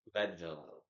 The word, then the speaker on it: Leadville: say it Leadville Lille Leadville like lead like like actual lead like they were mining oh lead like pencil lead yep kind of but